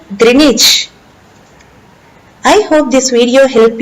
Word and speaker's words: Greenwich: clang it theory is pronounced longitude Greenwich is pronounced Greenwich I hope this video helped you thank you